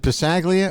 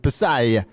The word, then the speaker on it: Passaglia: I said is it passaglia or is it passaglia he said the G is silent like in lasagna Halsey is actually correct